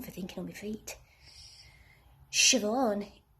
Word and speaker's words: Siobhan: thinking on my feet shove on shiv one is pronounced siobhan and nymph is pronounced